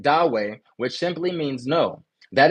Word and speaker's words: Dawe: No means Dawe. That's spelled Dawe. Dawe.